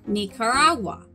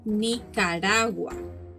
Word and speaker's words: Nicaragua: nicaragua in english nicaragua is referred to as nicaragua but the correct way to pronounce it is nicaragua nicaragua costa rica costa rica again in